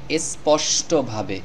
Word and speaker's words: স্পষ্টভাবে: এখন শিখবো এখানে দেখুন স্পষ্টভাবে শব্দটির সঠিক উচ্চারণ হবে স্পষ্টভাবে তো এখানে আমরা এই দন্তস্য বর্ণটির উচ্চারণ করেছি ইংলিশের এর মতো এস প্রথমে এই দন্তস থেকে